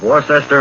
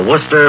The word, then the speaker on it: Worcester: a mr wl of warchester massachusetts i think that's pronounced worcester a mr wl of